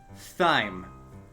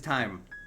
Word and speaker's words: thyme: education because this man this man thinks that the herb time is supposed to be pronounced thyme I love him but it is time there's no it's it's not with Nico not you two not you starting some incendiary all right we're gonna we're gonna do this the old-fashioned way yeah no exactly exactly melon it's pronounced like time see I treat my